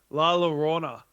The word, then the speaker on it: La Llorona: Yeah, Vince, you're on pronunciation for this. Yeah, that's the one. Llorona. La Llorona.